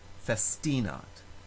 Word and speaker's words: festinat: syllable ambalad in the word festinot the second to last syllable has a long vowel long i so that syllable automatically receives the stress festinate in the word femina